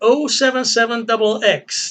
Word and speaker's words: 077XX: it in here but the 077 double x that's how we're going to pronounce it seven seven yeah being a mathematician I don't like saying oh for the number zero but it sounds better than zero seven seven zero seven seven sounds